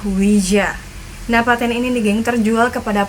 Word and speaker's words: Ouija: dari mereka yang menyampaikan bahwa Oja datang dari bahasa Perancis yaitu UI yang berarti ya dan bahasa Jerman ja yang juga berarti ia ya geng cara baca yang benar adalah Wija dapatin ini geng terjual